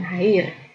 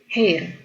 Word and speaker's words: hair: jug untuk rambut ya Jadi dibacanya bukan hair tapi a-nya lebih ke e gitu jadi hair This is hair meskipun